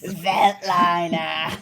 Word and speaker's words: Veltliner: That's why I think it's pronounced Veltliner. You have to say it Actually, like did that. you Google it, or did you just want me to say it like that? Veltliner.